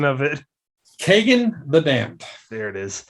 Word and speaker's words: Kagen: book please say it because i forgot the pronunciation of it kagan the damned there it is begging the damned